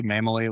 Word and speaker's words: Mammele: I know last name is tricky to pronounce. So that might be good learnings for everybody here too. Mamaly like family. I always say it's mme.